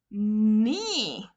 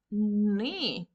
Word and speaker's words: knee: Knee. The K silent. Knee.